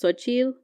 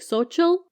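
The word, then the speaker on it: Xochitl: because it's technically pronounced sochil oh but like nobody could pronounce the L everybody's like social it's like it just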